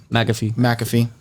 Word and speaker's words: McAfee: How do you pronounce it? McAfee.